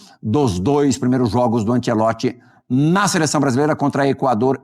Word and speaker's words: Ancelotti: Falar direitinho aqui a pronúncia do do nome dele. David Antielote.